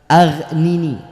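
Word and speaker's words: أغنني: Aghnini. Ya, Aghnini. Pakai ghaf. Pakai ya, ghain, ghain.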